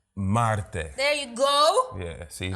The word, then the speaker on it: Marte: You gotta roll the R's though. It's Marte. I'm Dominican. Marte.